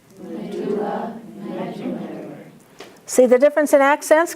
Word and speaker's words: medullary: Medulla and medullary. Medulla medullary.